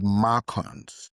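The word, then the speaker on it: MARCoNS: Number three, very common to have macons. Okay. Spell that for us. It's Mark. M A R C O N S.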